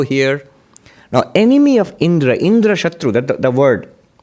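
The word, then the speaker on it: इन्द्रशत्रु: now enemy of indra indrashatru the word it can be pronounced in two ways with accent on the first syllable or accent on the last syllable now if you pronounce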